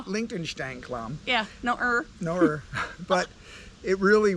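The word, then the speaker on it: Liechtensteinklamm: I mean, she liked it so much she even added an extra syllable in the name, which is kind of hard to do in German, but it's Liechtenstein Klamm.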